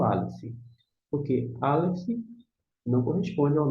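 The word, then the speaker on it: א: Aleph, não tem som.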